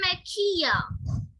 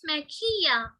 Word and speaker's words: mejilla: You will say mejilla. Double L in Spanish is pronounced as Y. So it's mejilla.